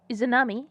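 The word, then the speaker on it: Izanami: Izunami.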